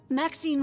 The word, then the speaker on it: Maxine: of most Exquisite varieties Maxine rhymes with Queen after all and dearest